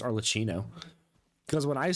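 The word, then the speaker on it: Arlecchino: recorded yesterday and today I pronounced her name arino the whole time I'm kind of surprised that nobody in the comments said anything about how her name is pronounced arcino cuz when I say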